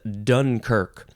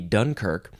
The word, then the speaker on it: Dunkirk: First of all, we gotta say, go see the movie Dunkirk. It's a great movie by Christopher Nolan. Okay, this is a noun. You can emphasize either syllable.